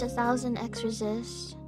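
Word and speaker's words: 1000xRESIST: I have to finish 1,000 x resist or a thousand times resist that's how it's actually supposed to be pronounced and I never played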